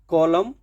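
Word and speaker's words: column: है एन का प्रोनंसिएशन नहीं देना है ऑटम कॉलम कंडेम डम हैम इस तरीके से देखिए हो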